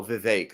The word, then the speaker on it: Vivek: gonna get let's see you said the fact Rhymes the fake rhymes with oh the vague it run oh Vivek okay there you go out my muscles like that it rhymes with cake I was like no